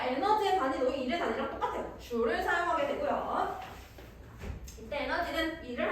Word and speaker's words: 줄: J라고 읽으면 안 되고 줄이라고 읽어요. 줄. J라고 쓰면은 기호가 돼버립니다. 그래서 에너지의 단위도 1의 단위랑 똑같아요. 줄을 사용하게 되고요.